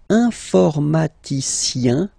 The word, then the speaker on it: informaticien: And the last group is I-E-N, informaticien, yin, yin, yin. So that's the way to pronounce this I-E-N, yin, yin.